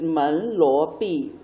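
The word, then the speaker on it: 门罗币: And most of the Chinese translations are based on the English pronunciation, so it doesn't really have a special meaning, I think. So this is Men, Luo, Bi, which is the Chinese name for Monero.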